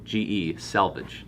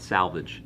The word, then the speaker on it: selvage: I like to spell it S-E-L-V-E-D-G-E, selvage. It's not salvage, selvage. And selvage denim is just woven on old school looms.